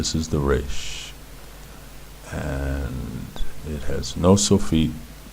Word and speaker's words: resh: For your purposes, learning the language from the beginning, pronounce it like you would pronounce any other R, or any other word with an R sound in it.